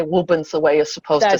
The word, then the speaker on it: Woburn: Well, I have to jump in and say you pronounced it the right way, because being from Gloucester, I have to say Wubin's the way you're supposed to say it.